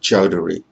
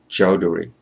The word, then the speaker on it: Chowdhury: of business and my name is dr chowdhury once again that's chowdhury i recognize that for some of you this